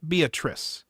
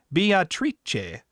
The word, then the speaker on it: Beatrice: As Beatrice is Italian, her name is pronounced in the Italian way, not Beatrice, but Beatrice.